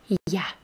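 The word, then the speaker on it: я: like you in english it's just one letter you you you ya ya ya it's actually in russian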